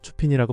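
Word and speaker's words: Chopin: 부끄럽게 쇼팽이라고 발음했는데 전혀 못 알아듣고 추핀이라고 발음하더라고요.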